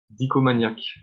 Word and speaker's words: Dicomaniac: Dicomaniac. Nicomaniac, d'accord. Dico comme Dico et Maniac comme comme ça se prononce aussi.